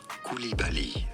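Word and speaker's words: Coulibaly: coming up for you French pronunciation the way he would pronounce his own name Bal bil kibali K kib in English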